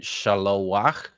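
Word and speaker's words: שָׁלֹחַ: Shalowach, shalachti. Pay attention. There's a holum hiding there beside the lamed, right, kind of on the corner of the chet there, and there's a furtive patach underneath the chet as well.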